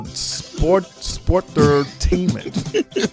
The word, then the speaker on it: Sportertainment: Like I've heard the name before, but I've never heard a Sportertainment show. Yeah. It's sport entertainment. Right. No, you can't pronounce the same T twice, Shane. It's sportertainment.